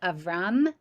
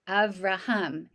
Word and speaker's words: Avraham: of that you're now no longer going to be called avram but rather avraham you're going to get that extra syllable in your name to indicate this covenant